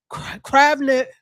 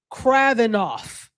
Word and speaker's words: Kravinoff: And then I said we asked them to bring Delilah or Anna Kranikov to Kravnik. I always say her name wrong. Kravinoff. There we go.